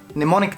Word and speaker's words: mnemonic: Things called mnemonic devices. Now, M is silent.